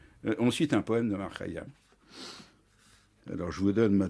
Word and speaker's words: Omar Khayyam: Faut-il prononcer à la persane ou à la française? Il vaut mieux dire à la persane. À la persane, c'est Omar Khayyam. En persan, on l'appelle Omar Khayyam.